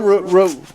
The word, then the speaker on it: Rufina: Rufina, kind of like the roof.